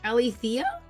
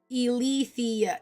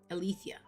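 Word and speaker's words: Eileithyia: Actually, Alethea? Alethea. I don't know. Emphasis on the wrong syllable.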